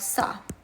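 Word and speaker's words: ça: lesson l s l number four we have sa sa meaning is this or that in French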